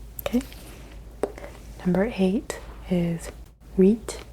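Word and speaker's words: huit: number I hate is weet weet weet silent H but it does sort of influence the letters that you do say wheat number nine no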